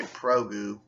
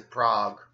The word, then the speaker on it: Prague: You don't say Progu, you say Prague, or Pragu, Hague, yeah.